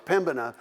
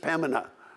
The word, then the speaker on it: Pembina: You know, and then we've been corrected, and then we said, no, it's Pembina. And now they say, no, you don't even pronounce the B, it's just Pembina.